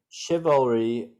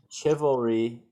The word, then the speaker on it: chivalry: Chivalry was a medieval code of ethics that dictated the way knights were meant to behave. So, sorry, one more time, please. Chivalry or chivalry. You can pronounce it either way.